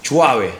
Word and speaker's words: Chuave: Chuave. How do you? Okay, Chuave. That's how you pronounce it. Like Suave, I'm guessing. Like suave, but with CH.